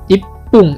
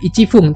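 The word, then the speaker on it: 一分: Contohnya misalnya ipung ya, 1 menit ipung. Nah, ini juga bukan ichifung tapi ada kecilnya di sini ya.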